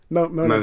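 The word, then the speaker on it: Möhne: three heading to the, is it the Mon Dam? Is that how you say it? Mona Dam.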